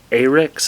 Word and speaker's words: Ahrex: Today we're going to tie a Red Brassie, and we're going to tie it on one of the new Ahrex, I think that's how you say it, A-H-R-E-X jig hooks.